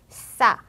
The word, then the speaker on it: ça: Ça, leçon, reçu. 만약에 이 꼬리가 없었다면 원래는 꺄라고 읽혔을 거예요.